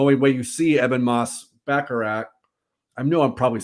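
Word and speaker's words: Bachrach: see e no way you see eban moss backarat I know I'm probably saying his name wrong but it's pronounced bakar Rock cousin um hey cousin um that's how you're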